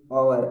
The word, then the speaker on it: hour: एच क्या है गैस, आपका एक व्यंजन है, लेकिन उच्चारण कैसे हो गया है गैस इसका, ऑब्वियसली गैस उच्चारण इसका स्वर ध्वनि है गैस, आवर, आवर होता है गैस।